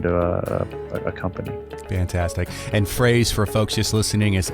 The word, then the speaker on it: Frase: And Frase, for folks just listening, is F-R-A-S-E, correct? That is correct. Yep. Pronounced like prepositional phrase.